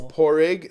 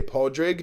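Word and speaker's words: Pádraig: So yeah, I tell everyone with an American accent, it's opposite of a rich egg. It's a poor egg. Because when an American says poor egg, it just sounds like you're saying porrig. Okay. But yeah. Okay. But again, if you have the father, you would say podrig, depending on where you are. Usually like podrig. Dublin and like down south usually says that.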